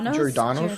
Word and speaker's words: Giordano's: Giordano's.